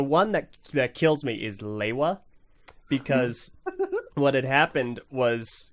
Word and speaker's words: Lewa: This is my Danish way. Lewa. One more time. Lewa.